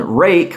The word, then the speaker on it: Ruike: is a home one rake which I've been told that's how that's pronounced uh they make very